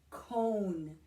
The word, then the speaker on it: cone: spelled c om e when you see the e the end of cone you know that that e tells o say your own name so the name of that letter there is o so a long o says O so this word is cone can you say that